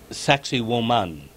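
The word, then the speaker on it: Sacsayhuamán: above the the colonial city of Cusco called sexy woman or a sexy woman but the actual pronunciation is sexy woman and the this was where the Incas suffered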